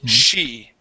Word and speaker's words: she: yep here you were excuse me you were pronouncing the uh CH sound saying Chi okay this is she she uhhuh very good and let's practice Sheed